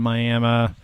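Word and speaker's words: Miami: in Ottawa County today uh just outside of miam uh and I pronounced it properly there so may M we're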